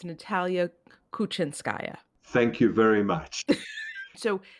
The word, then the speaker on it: Natalia Kuchinskaya: So I will do the pronunciation for you. It's Natalia Kuchinskaya.